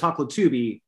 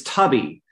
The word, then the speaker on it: Hoklotubbe: Oh, I mispronounced my own name because I was raised in California. It was Hoklotubbe, and coming back to Oklahoma on some recent trips, I was reminded that it's Tubby. It's Tubby. Which invites Teletubby, but it's the recognizable pronunciation with the Chippewa and the Choctaw tribe of my own.